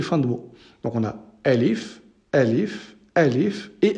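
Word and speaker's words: ألف: début milieu et fin de tour donc on a l if he leaf et leaf et alif donc répétez après moi et l'idéal ici pour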